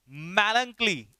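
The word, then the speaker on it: melancholy: मैलंकली, इसका प्रोनाउंसिएशन क्या है, मैलंकली, क्या पढ़ेंगे इसे, मैलंकली।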